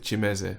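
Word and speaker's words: Kimeze: z e dot com we pronounce it chimese but it looks like kim that is where you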